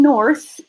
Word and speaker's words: north: This is one syllable. It ends on the TH sound that is voiceless.